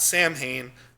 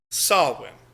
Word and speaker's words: Samhain: If you've ever seen a word that looks like Samhain, which is Samhain, which comes from Irish terminology, it's actually pronounced not Samhain, Samhain.